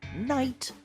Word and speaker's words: night: one well done night the letters g and H in night are silent we don't say the sound night very good H what